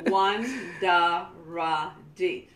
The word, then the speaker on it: Wandaradi: One of the things in Garifuna, the best way is try to pronounce the words phonetically. Yeah, do it in pieces. Don't try to. Yes. Yeah. One da ra di.